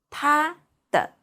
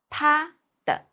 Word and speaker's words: 他的: His, her, or its, it's 他的. As you can see, the words are different between his, her, or its, but the pronunciation is same. It's all called 他的. Please repeat.